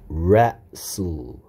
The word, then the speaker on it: wrestle: 그 다음에, 자, 얘는 W가 소리 안 납니다. 그래서 발음은 wrestle. wrestle 가 아니고 wrestle입니다. wrestle. 여기까지 소리가 wrestle. t도 소리 안 납니다. t도 소리 안 나요.